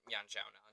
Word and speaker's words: Yan Xiaonan: Yeah, Jandaroba and Yan Xiaonan. Jan. Yeah, okay. Honestly, names often mispronounced by me.